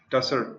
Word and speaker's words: Tussar: Then, how do you pronounce it? TASR? SAR? Tussar? You know it? Tussar.